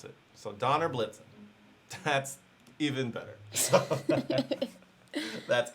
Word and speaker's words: Donner Blitzen: So Donner Blitzen is pronounced like the Santa reindeer. I thought so. So it's pronounced like the reindeer.